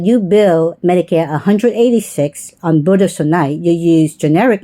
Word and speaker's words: budesonide: But it's the same thing, the Benestinide. The How do you say that? yeah, budesonide, which is for the Pulmicort.